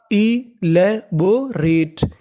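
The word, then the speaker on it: elaborate: आखिरी में लिखा है ई और ई का हमें उच्चारण नहीं करना। आपको इंग्लिश का एक रूल याद रखना है कि अगर आपको इंग्लिश की किसी भी मीनिंग के आखिरी में ई लिखा मिले तो हमें ई का उच्चारण नहीं करना, खाली उससे पहले का उच्चारण करना है। तो मीनिंग बनी इलेबोरेट।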